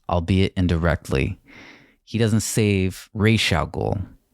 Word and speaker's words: Ra's al Ghul: He doesn't save Ra's al Ghul. In this film, incorrectly pronounced Ra's al Ghul.